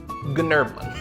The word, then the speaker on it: Gnerblin: With a silent G at the beginning. So his full name, Gnerblin.